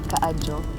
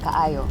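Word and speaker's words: kaayo: Aside from "daghang salamat", there's also "salamat kaajo". Oh, you said it right! 'Cause ka-ajo is apparently is the traditional way of saying it now it's like ka-ayo right?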